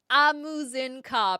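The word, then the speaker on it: Ah Muzen Cab: Amuzinkab. I was missing an extra syllable.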